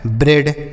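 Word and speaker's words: bread: बी आर से हो गया ब्रो, ई ए का उच्चारण ए की मात्रा, डी से डॉ लिखा है ब्रेड।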